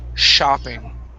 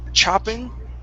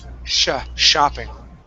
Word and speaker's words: shopping: And the last one here, I want to work on the pronunciation of shopping. Instead of chopping, give me an SH sound. Shopping.